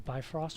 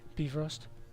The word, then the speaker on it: Bifrost: and the beef roast not to be confused with the Bifrost which is not how you say it is actually like beef roast I'm thinking Arby's camera